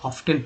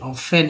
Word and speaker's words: often: The silver, ठीक है, वन आयोन वॉज, देखिए बहुत सारे लोग इसी वर्ड को ऑफ्टेन पढ़ते हैं शुरुआत में, OFTEN को ऑफ्टेन, भाई कहिएगा ऑफ्टेन क्यों पढ़ेंगे, एक्चुअली ऑफ्टन को ऑफ्टन क्यों पढ़ते हैं, ये ऑफन है एक्चुअली, ऑफन को ऑफन क्यों पढ़ते हैं, ऑफन ऑफन ऑफन, टी को यहाँ साइलेंट कर दिया गया